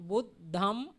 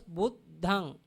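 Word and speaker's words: Buddhaṃ: We call the end of the nasal sound, we call Buddhang. Pronounce Buddhang. Buddhang. Dhammang. Dhammang. Sanghang. Sanghang. If someone cannot pronounce the nasal sound, he can follow the makar.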